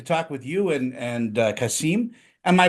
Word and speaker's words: Qasim: I get to talk with you and and Kasim, am I pronouncing that right? Did I get it right? It's it's it's Kasum like Blossom or Awesome.